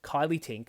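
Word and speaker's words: Kylea Tink: Now, it's important to remember that in 2022, North Sydney was won by a Teal Independent, Kylie Tink, and yes, that is how you pronounce that, beat Trent Zimmerman to take the seat away from the Liberal Party.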